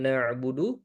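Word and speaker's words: نعبد: Ketika na'budu di tekankan ainnya ya. Nah, ini juga di antara kesalahan tadi, mohon maaf saya lupa menyebutkan ketika menyebutkan na'budu, terkadang kita menyebutkannya dengan hamzah juga. Iyaka na'budu, na'budu. Perhatikan perbedaan na'budu, na'budu dengan na'budu. Ya, adapun dengan hamzah kita seperti ee berhenti membacanya, kita seperti putuskan di situ. Adapun jika kita baca dengan ain, ada sedikit aliran.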